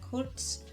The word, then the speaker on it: kurz: And it's interesting to know, or at least to me, that short, kurz, sounds like the word curt, which is to like speak or cut something off really shortly.